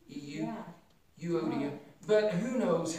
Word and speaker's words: Euodia: Well, I've always heard it pronounced Euodia, kind of like the EU, like a eulogy, EU, yeah. Euodia.